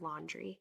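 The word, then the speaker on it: Laundrie: name wrong before sorry it's not landry it's laundry he have you heard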